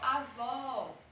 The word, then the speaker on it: avó: Já o agudo não, ele tem som de A, E, I, O, U, igual avó, né?